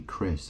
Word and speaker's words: Chris: serious okay because obviously Chris has a silent h in it doesn't it so you could just spell it c r i s yeah did Christopher